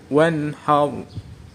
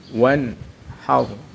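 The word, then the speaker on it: وانحر: Wanhar. Hukum bacaan idhar halqi, karena ada nun sukun bertemu ha. Cara membacanya nun sukun dibaca jelas. Wanhar.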